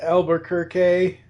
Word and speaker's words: Albuquerque: The cover is done by Raphael, I believe it's pronounced Albuquerque, as in Bugs forgot to take the left turn at Albuquerque.